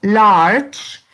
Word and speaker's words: large: El siguiente adjetivo es large, que también significa grande. Large. ¿Cuántas sílabas tiene large? Porque la E no se pronuncia. Large. Es una sola sílaba.